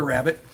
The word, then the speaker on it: rabbet: and it's spelled a little bit different. It's not spelled like Yes. the rabbit, but we call it the rabbit.